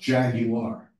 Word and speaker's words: Jaguar: Jaguar. And it's actually pronounced Jaguar.